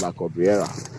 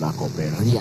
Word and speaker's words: La Cobreria: I thought it was La Cabrera, but it is La Cobreria.